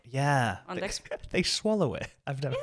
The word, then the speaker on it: anteeksi: I have also recently learned, so anteeksi is how you say sorry. Mm-hmm. I've recently learned that people will say anteeksi, like if they're trying